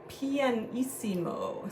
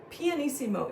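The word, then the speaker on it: pianissimo: first thing okay and that PP stands for panimo so let's write that together p i a n p n eimo i s s i m o panimo is the softest Dynamic very very very quiet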